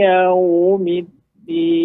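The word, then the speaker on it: يوم الدين: Jangan yau. Ketika Bapak ayunkan tadi tuh yau, maka ada seolah ianya panjang yau gitu. Maka dia langsung Pak, langsung pindahkan. Maliki yau. Dari tengah lidah langsung ke ujung, langsung pindahnya cepat. Jangan diayunkan. Kalau diayunkan ada yau gitu.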